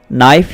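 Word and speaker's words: knife: चाकू की इंग्लिश है नाइफ, इसका केस साइलेंट है, आपने इसको नाइफ ही पढ़ना है।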